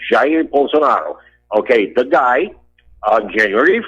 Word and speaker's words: Jair Bolsonaro: Bolsonaro, okay, his name is Jair Bolsonaro, the correct pronunciation, Jair Bolsonaro.